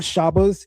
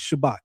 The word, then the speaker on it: Shabbat: The word is not Shabas, it's Shabbat. You're not saying that T on the end.